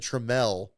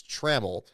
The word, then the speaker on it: Traml: I think I said TML before cuz I thought it was that, but it's Traml is the correct pronunciation there uh of his name.